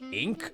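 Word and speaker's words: Inque: Her name is spelled funny, but it's just Ink.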